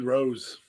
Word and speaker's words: Rhodes: little bit about cody rose rhodes listen if you don't know what he wrote is like a rose a beautiful bloomed flower